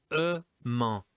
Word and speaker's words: aimant: Là, cet exercice numéro 2, c'est amant, amant. D'accord? C'est différent de aimant. Amant, aimant, amant, aimant. D'accord? Donc là, c'est le même principe, le même mécanisme, mais la prononciation est différente.